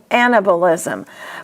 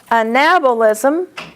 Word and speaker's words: anabolism: Students commonly make mistakes on this because they want to say anabolism. But always think before you say the word. Metabolism. You're familiar with metabolism. The accent is tab. So, following that rule, anabolism, catabolism.